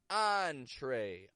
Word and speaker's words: entree: These are words that come into English from French and are spelled with the letters E-N. E-N. Such as entrepreneur, entree, encore, en route, on.